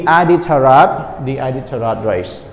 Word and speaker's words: Iditarod: our lesson today is the how do you pronounce it everyone okay we say the ID taro D a datura the Iditarod race right again the Iditarod race what is